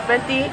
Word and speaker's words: Fenty: So, yes, we're trying out the Fenty line. That's how you pronounce it, from Rihanna, if you don't know.